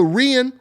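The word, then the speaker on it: Rhian: That's on, that's the Rian, or some people pronounce it Ryan Brewster or Rian Brewster.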